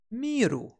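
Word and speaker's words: 見る: And it's actually quite easy to remember it again, because it's pronounced miru.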